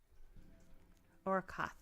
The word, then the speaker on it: Orkoth: But now we are going to go to Orkoth, I guess is how you say it. Orkuth? I guess Orkoth. Orkoth, because there's only one O.